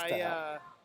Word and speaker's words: Tahel: I think you meant to say to hell. I think that's how it's And, pronounced. Someone told me that's how it's pronounced. It's Tahel.